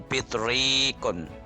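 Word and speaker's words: بطريق: Kalau dalam contoh ini adalah penguin, bacanya bitrikun. Bitrikun. Nah, ini bitrikun. Ini kalau ini yang atas ini zarafatun.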